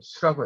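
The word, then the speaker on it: 宿: 이건 잘못된 표현이고 수라고 해야 돼요.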